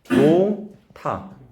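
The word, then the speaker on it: 놓다: 여기가 축약이 돼서 노타. 받침 소리 안 나는. 받침 소리가 안 나오는 게 아니라 받침 소리가 뒤로 넘어가서 축약이 돼버렸지. 히읗 소리로.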